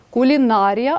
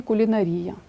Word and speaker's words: кулінарія: майонез а не майонез металургія кулінарія але можна сказати і кулінарія дев'яте правило прикметники здебільшого